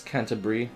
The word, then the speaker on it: Canterbury: By the way, it's Canterbury. It's 3 syllables.